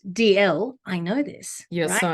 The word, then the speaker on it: Dalziel: got an interesting surname which is pronounced dl i know this you're